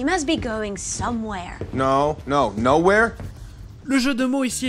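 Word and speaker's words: Knowhere: No, nowhere? Le jeu de mots ici est assez explicite. Nowhere, qui a un K muet comme le mot no, se prononce comme nowhere, qui veut dire nulle part.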